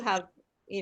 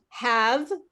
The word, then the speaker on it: have: Now you have, you know, you're on your way. All right. So again, just to bring your attention to I'm working and have, not havey. Okay, have.